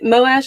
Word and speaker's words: Moash: that uh mo mosh moash is it moash i've always said most how they moash is how they pronounce it in the audiobook i should listen to